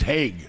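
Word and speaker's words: Haag: Could you give my friend Mason Hogg a shout out? Mason who? Hogg. Hogg? H-A-A-G. Hogg. Yeah, That's a hard name to pronounce. Yeah. So Haig. I think it's Haig. It's pronounced Haig.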